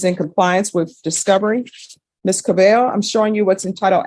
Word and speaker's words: Cabello: you Miss Cabello yes am I pronouncing your last name right yes thank you I'm always the double L's always throw me off Council have you